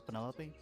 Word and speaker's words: Penelope: Is that short for Penelope? Officially, yes, but I never can be bothered with all four syllables of it.